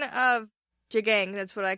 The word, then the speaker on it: Jagang: The two different pronunciations that we got on our comments were Jagang and Jayang, and I saw some, way farther pronunciations on, the actual page.